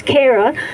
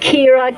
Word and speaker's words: Kara: In the same way, can I just say now that my name is Kara, not Kira, Kiora, Kyra.